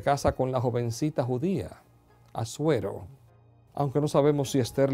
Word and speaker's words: Asuero: Su nombre es difícil de pronunciar. Para nosotros es Asuero.